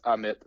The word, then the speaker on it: Ammit: The first M is silent. It's Ammit.